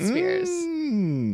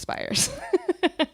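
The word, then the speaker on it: Spiers: like correcting people because everyone pronounces it Spears. But apparently it's Spires.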